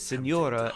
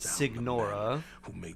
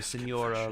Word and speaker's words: Signora: And that's also why Signora is Signora and not Signora, because the GN is like the Nye in Spanish, the Nya. So Signora rather than Signora.